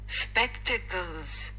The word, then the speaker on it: spectacles: स्पेक्टिकल्स स्पेक्टिकल्स स्पेक्टिकल्स स्पेक्टिकल्स okay सबसे पहले meaning समझते हैं।